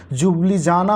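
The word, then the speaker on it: Ljubljana: जो होता है दोस्तों जुबली जाना होता है इसमें ल जो होता है वह साइलेंट होता है तो ध्यान से देख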